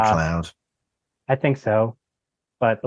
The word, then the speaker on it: MacLeod: I think it's uh, McLeod.